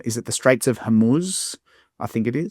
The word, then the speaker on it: Hormuz: close the Straits of, you'll know how to pronounce it probably better. Is it the Straits of Hormuz? I think it is. Hormuz, yeah.